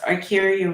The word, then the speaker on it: Arkeria: it please forgive me it's pronounced archaea okay so actually yeah it's pronounced exactly how it's spelled so i always tell people if you look at the spelling you can pronounce the name right right i want